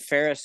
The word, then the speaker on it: Faris: And Faris is spelt like Paris, France, but with an F.